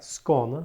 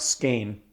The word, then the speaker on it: Skåne: Skåne. Skåne. It's not Skane. Skåne. It's not Skane, guys. That's also a region or Skåne.